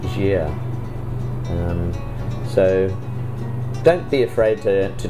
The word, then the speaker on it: Gaia: itself it's spelt gaia um but it's actually pronounced jeer so don't be afraid to try and pronounce